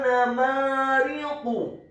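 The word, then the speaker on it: نمارق: Wa namariqu. Huruf wawnya dibaca fathah 1 harokat. Huruf nunnya dibaca tipis fathah 1 harokat. Huruf mimnya dibaca fathah 2 harokat karena setelahnya ada alif.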